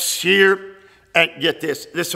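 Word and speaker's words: shiyr: that word for singers is shear s h i y r pronounced shear and get this this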